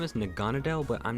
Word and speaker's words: Naganadel: a few months ago, and I believe you pronounce his name as Naganadel, but I'm not entirely sure.